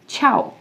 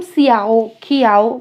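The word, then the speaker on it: ciao: या अब जो यूरोपियन कंट्रीज़ में एक वर्ड और है जिसको मैं बाई के लिए यूज़ करती हूँ, दिस इज छाओ, छाओ। तो इसको हम सियाओ खियाओ बिल्कुल नहीं प्रोनाउंस करने वाले, दिस इज छाओ, छाओ।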